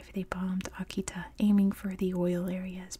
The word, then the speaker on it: Akita: If you haven't seen, in America we call them Akitas. It's pronounced Akita, but the dog in American English is Akita.